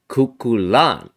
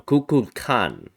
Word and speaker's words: Kukulkán: today's average level difficulty puzzle and it's called kulan No kukan kukan by aqj JHS a I don't know how to pronounce it AQ JHS and here are the